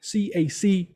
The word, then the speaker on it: CAC: C-A-C, it's a short form pronunciation, CAC.